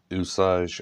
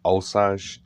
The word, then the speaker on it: Osage: it in the States, Osage or Osage, seems to depend on where you're from, how you pronounce it.